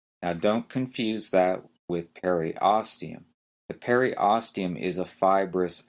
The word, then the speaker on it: periosteum: this one might be a little hard to pronounce is the periosteum e-r-i-o-s-t-e-u-m the periosteum is the fibrous outer covering